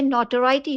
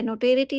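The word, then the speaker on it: notoriety: यानी नौसिखिया, अडेप्ट निपुण, नोटोराइटी ये नोटोराइटी है, नोटेरिटी नहीं है, नोटोराइटी बदनामी, एनोनिमिटी गुमनामी या प्रोमिनेंस प्रसिद्धि दोनों ही हो सकता है।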